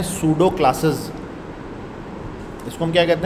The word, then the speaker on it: pseudo: इसको हम कहते हैं सुडो क्लासेस इसको हम क्या कहते हैं पीएसईउदो क्लासेस अच्छा सुडो की जो स्पेलिंग है वो ये है इसमें पीस साइलेंट है ठीक है तो यह